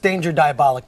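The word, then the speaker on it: Danger: Diabolik: is something altogether different I think it's pronounced danger diabolic but I could be wrong here I am trying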